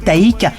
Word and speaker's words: Tayc: véritable nom julien bois dit haïk qu'il faut prononcer taille qui met au coeur